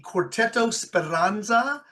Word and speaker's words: Quartetto Speranza: It is my very great honor to introduce the quartettospiransza from Midwest Young Artist Conservatory. Am I pronouncing that correctly?